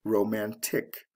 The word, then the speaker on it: romantic: before adding the ending, romantic. So it goes from the first syllable to the second syllable in stress.